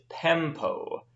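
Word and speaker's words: πέμπω: The next one is pempo. Pempo. Make sure you have that short E, pempo.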